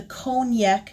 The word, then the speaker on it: Konjac: And while I do enjoy them, I recently switched to something called the Cognac sponge. It's spelled Konjac.